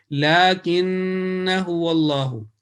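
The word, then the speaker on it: لكنه والله: So it will be the right pronunciation will be lakinnahu wallahu, lakinnahu wallahu.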